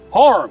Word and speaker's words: Hiram: Harm. Isn't that how you say it up here? Is Harm? Mountain people, yeah.